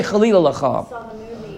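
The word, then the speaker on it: חלילה לך: How do you say Chalila Lacha?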